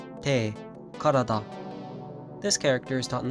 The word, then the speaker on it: 体: Today's kanji is body, pronounced tai, te, karada.